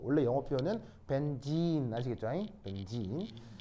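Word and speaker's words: benzene: 벤젠. 바로 그 유명한 벤진. 아시겠죠? 이게 이제 옛날에도 얘기했지만 E가 E 장모음이에요. 그래서 이제 벤젠 이거는 이제 약간 이제 우리식 발음이고 원래 영어 표현은 벤진 아시겠죠?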